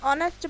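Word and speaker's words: honest: तो क्या रूल बनता है, before a word beginning with a silent H एज एन आर, एन ऑनेस्ट man, etcetera.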